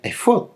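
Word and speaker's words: אֵפוֹד: el original hebreo, porque efod se escribe Aleph, Fei, Dalet, y se pronuncia efod, tal cual.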